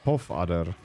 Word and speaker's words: Pofadder: It's a pofadder. Ah, got it. It's pronounced Pofadder.